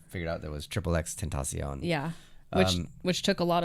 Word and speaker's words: XXXTentacion: And then people figured out that it was Triple X Tentacion.